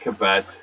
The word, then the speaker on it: Cavett: Dick Cavett, spelled like cassette. Cavettete. That's how you say it, Cavett.